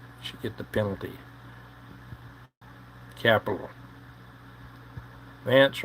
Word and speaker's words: Vance: Vance rhymes with Pence.